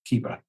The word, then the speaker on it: Keepa: what is a brand rhymes with meepa keeper yeah if we if we use business with only one tool it would absolutely hands down be keepa could you do this